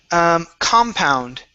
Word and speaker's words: compound: Next up is compound. Okay, so the stress is at the beginning.